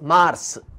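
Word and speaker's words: Mars: मागीर आमकां येता मार्स, एम ए आर एस. परत्यान सांगता, एम ए आर एस, मार्स, इंग्लिशीन मार्च.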